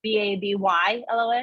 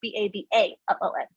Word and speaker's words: Babalon: And it's not Babylon, the location, like Babyylon. It's Babalon.